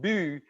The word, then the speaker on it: by: Bylaw means a local or town law, because by, pronounced bu, is the Scandinavian word for town.